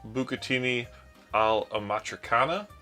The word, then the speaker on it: bucatini all'amatriciana: Alright, so tonight we're going to make bucatini all'amatriciana.